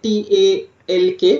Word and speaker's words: talk: So, hum keh rahe hain, okay, T-A-L-K with a silent L.